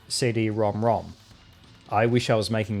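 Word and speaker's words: CD-ROM²: Despite the fact that the name of the add-on was written with a superscript 2 at the end, indicating that it should have been pronounced CD-ROM squared or something along those lines, it was officially called CD-ROM-ROM.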